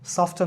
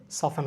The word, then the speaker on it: soften: তারপর সফটেন হবে না, সফটেন হবে না, SOFTEN, এটাকে সফেন হবে।